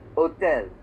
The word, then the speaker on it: hôtel: it in French is they pronounce it as hôtel. They don't make the H strong.